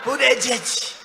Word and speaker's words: Buttigieg: Nobody has any idea. Buttigieg. They say edge.